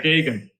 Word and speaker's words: Geoghegan: That's how you pronounce it? Yes. Okay. Because I was, No, it's not an easy one, but yeah, Geoghegan.